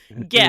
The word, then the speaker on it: GIF: I will always be a hard G GIF person, and I will never get broken of that habit, I don't think. So it's a hard G. Is that right. GIF? Right, exactly. Nobody's talking about peanut butter here.